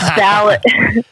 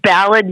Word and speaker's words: Ballard: It's Ballard. It's Ballard, Utah. For all you non-Massachusetts people, Ballard.